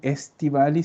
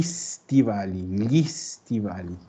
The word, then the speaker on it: stivali: Y tratar de no decir gli estivali, sino que gli stivali. ¿Ya? Prueba de nuevo, Marcela, diciendo gli stivali. Gli stivali. ¿Ves? Ahí lo que hiciste fue no pronunciar la E. Pronunciaste directamente la S.